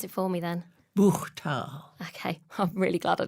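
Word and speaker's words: Buchthal: You pronounce it for me then. Buchtal.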